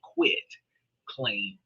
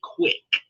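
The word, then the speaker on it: quitclaim: So, I want you to understand it is a quit. I quit claim D, not a quick like fast claim D. And people pronounce this wrong thinking, oh, it's it's a fast claim to a deed. No, it is quitting.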